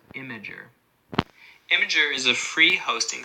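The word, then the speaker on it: Imgur: imageries held I am gee you are but pronounced imager imager is a free hosting site preferred by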